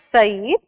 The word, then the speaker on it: Said: So number one theorist that we have is by the name Edward Said. Again, going to tell you the correct pronunciation is Said, not Said, right?